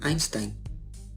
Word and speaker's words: Einstein: empezando por los diptongos ay se escribe ahí pero en todos los casos se pronuncia ahí ahí hay como en einstein einstein einstein hoy se